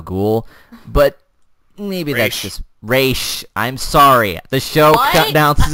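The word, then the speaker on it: Ra's: him Roz uh it's it's pronounced race racial gold can you get that right but no it's always Roswell ghoul I'm also going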